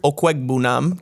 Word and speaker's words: Okwegbunam: You didn't get that pronunciation. It's Okwegbunam. Okwegbunam.